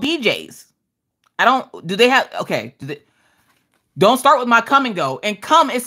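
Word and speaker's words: Kum & Go: Okay, so in North Dakota, come and go, which is spelled K-U-M and go, is a convenience store.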